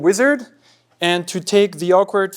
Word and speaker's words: Uizard: So yeah, the product we've been building is called Uizard. And to take the awkward first thing first, is pronounced wizard, but it's spelled with a U.